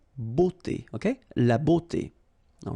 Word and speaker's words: beauté: Remember, we've got this combination of a, u here, of the vowels, okay? But then it will give you the sound o, beauté, okay?